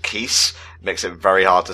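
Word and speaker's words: Keese: Just want to give a shout out to Nintendo for once again creating a enemy that sounds like keys, but is actually pronounced keys.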